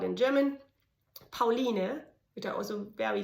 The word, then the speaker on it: Pauline: okay, now it's not, your child is not called Pauline here, it's Pauline, so please, adopt.